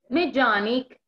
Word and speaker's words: mechanic: Mechanic, mecánico, mechanic, mecánico, mechanic, mecánico. Si ustedes se dan cuenta, en esta palabra se escribe mechanic, but the correct pronunciation is meja, meja, mechanic, okay?